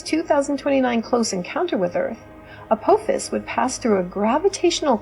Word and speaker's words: Apophis: the asteroid 99942 Apophis, actually pronounced Apophis, which is different from the mythological creature of the same name, which is pronounced Apophis, was a near-Earth asteroid